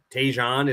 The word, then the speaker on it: Tejan: I believe Sawyer, Tejan is how you say his first name.